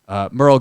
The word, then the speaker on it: Merl: And by the way, Merle is spelled M-E-R-L. Merle Garrett. Merle, an absolute gem. But because it's just M-E-R-L, we refer to him now and forever forward as Merle.